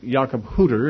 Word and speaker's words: Jakob Hutter: In German, however, there's no short U. It's always a long U. So technically, Jakob Hutter is the correct pronunciation.